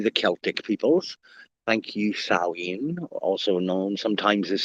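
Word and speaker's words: Samhain: us thanks to the Celtic peoples thank you saen also known sometimes of Sam Hayne although it is pronounced saen I'm enough of an etymologist and mythologist and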